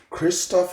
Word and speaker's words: Christoph: So next, we got Eric Anders versus Christoph Jerko.